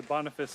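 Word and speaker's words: Boniface: guessing anyways um who but we do say bonfice in English yeah okay I was about to say bonfice is the correct pronunciation so yeah so when when Bon returns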